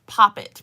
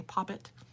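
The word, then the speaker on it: poppet: cheeks in the shade pop it p-o-p-p-e-t like the british say puppet they say pop it great to see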